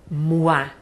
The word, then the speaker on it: moi: O-I eu pronuncio U-A. Por exemplo, o mês, mois. Ou então, eu pronome tônico. Quando for pronome tônico em francês, moi. Mês tem um S no final, que eu não falo. Então ele acaba tendo a mesma pronúncia que eu. Né? O pronome eu.